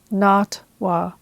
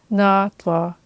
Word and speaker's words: NATWA: the organization's acronym as NATWA because I didn't realize that it was supposed to be pronounced NATWA, which is the Taiwanese Hokkien pronunciation of the words meaning growing or expanding.